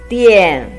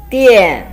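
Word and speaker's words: 店: The third one, pronounced as dian, is a combination of de and yan. There is a fourth tone. De yan, dian.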